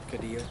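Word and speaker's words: caudillo: Cadillo. No. Cadillo. Caudelio. You're at a spot. There's no yo there, but it's like Caudelio. But in Spanish, double L is pronounced Y.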